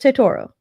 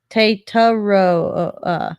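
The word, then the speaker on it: Tetairoa: Don't overthink it. It's just Tetoro. It's easier than you think it is. I think I'm literally reading the pronunciation guide, and you're getting that wrong. Tataro.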